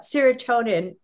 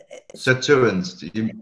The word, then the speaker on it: sirtuins: And what about serotonin? Is that something that we can supplement with too? And why is boosting that important? I think I said it wrong. Sorry, Steve. Sirtuins. You're talking about sirtuins?